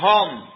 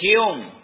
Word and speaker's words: Home: lo encuentran así porque a él le decían home y home es H oome no con u Entonces por alguna razón alguien le pronunciaba su apellido de esa manera y él creyó que era así de pronto y se presentaba era como Daniel h y es Hum y usted no lo